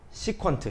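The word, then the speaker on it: 시컨트: 시퀀트. 시퀀트라고 읽어요. 시퀀트. 맞습니까?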